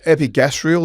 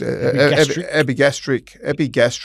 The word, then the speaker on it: epigastric: Epigastrial, is it? Epigastric.